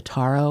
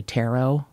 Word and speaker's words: taro: I'm pronouncing that wrong that's probably taro like the card but with no tea but it's ta ro and it's purple which is my favorite color but it's actually I think the taro root is kind of